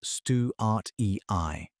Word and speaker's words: Antechinus stuartii: Bradley was studying a species called Antechinus stuartii, pronounced stew-art-e-i, when he ran what's